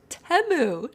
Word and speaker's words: Temu: it um super late teu is pronounced temu did you no way wait I pronounced it temu but then I thought I heard on a commercial Teemu so I changed wait which commercial a